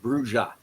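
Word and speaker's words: Brujah: guides in them, and they say point blank it's pronounced Bruja.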